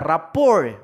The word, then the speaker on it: rapport: stands for identity are rapport rapport ha Hwag niyo sabihing rapport rapport Ian that's the correct pronunciation then for opening statement